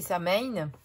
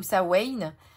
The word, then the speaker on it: Samhain: Donc, on connaît le plus, c'est Samhain ou Samhain, prononcez-le comme vous voulez, qui est le sabbat le plus important de la roue païenne.